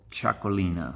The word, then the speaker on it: Txakolina: bottle of get teracle choco Lina that's how you pronounce that chuckle inna anyway chuckling